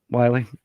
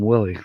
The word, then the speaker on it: Wiley: Welcome aboard, Wiley. It took me a month to say his name correctly. I used to call him Willie. That's not right. It's Wiley, like Wiley Coyote.